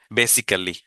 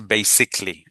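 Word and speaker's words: basically: আরেকটা গুরুত্বপূর্ণ, বেসিক্যালি, that's very wrong, কোথাও নাই এটা বেসিক্যালি। দেখেন বেসিক্যালি হচ্ছে বেসিকলি, বেসিকলি ইকলি উচ্চারণ হবে শেষে, বেসিকলি, রাইট?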